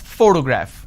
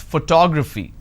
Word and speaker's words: photograph: I pronounce this as photograph which means I'm stressing on the first syllable but when I look at this particular word I pronounce this as photography how do I pronounce